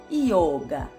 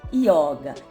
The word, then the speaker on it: yoga: o sânscrito então resumindo O correto é a gente escrever y o g e pronunciar yoga não yoga e sem nenhum assento na hora da gente